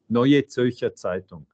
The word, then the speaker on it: Neue Zürcher Zeitung: Vous lisez le quotidien suisse, et pardonnez-moi la prononciation, je ne suis pas germanophone, New Zürcher, on dit? Neue Zürcher Zeitung, NZZ.